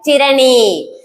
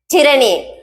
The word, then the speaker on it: tyranny: இப்போ இதுல first word ஒன்னு எழுதிருக்கல, இது எப்படி ப்ரொனவுன்ஸ் பண்ணணும்னா டிரணி. That's the point. Tyranny. It is tyranny.